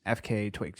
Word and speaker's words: FKA twigs: as well and also is it FKA twigs how do you pronounce it FKA twigs yes or FK Twigs no it's FK it means formerly known as Twigs yeah that's good I did it right good job anyway so